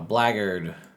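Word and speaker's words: Blackguard: lord barbarian barred uh blaggered as i've been told it's pronounced a blade singer champion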